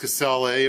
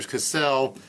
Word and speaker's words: Casale: I believe it's pronounced Casale or Cassell.